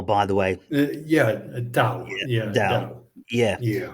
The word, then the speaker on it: Tao: It's pronounced Tao, by the way. Yeah, Tao.